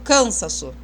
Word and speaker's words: cansaço: Cansaço não tem acento. E a sílaba tônica tá no sa. Eu nunca falo cansaço. Ou eu falo cansaço. Não falo, eu falo cansaço. Então, ó, sa é a sílaba tônica, está na segunda posição aqui, ó, tá na penúltima posição.